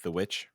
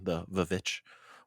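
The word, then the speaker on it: The VVitch: would be something like The Witch, or if you are literal with the pronunciation, the Vich, the double V's.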